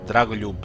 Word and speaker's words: Dragoljub: Dragoljub. Show us the foe! At once! Group created! Knights Errant! With haste! Here L and J is pretty much one letter.